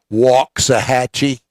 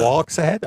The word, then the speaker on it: Waxahachie: got to trek across through things like Ennis, Waxahachie, places like that. Waxahachie? I thought it was Waxahatchie.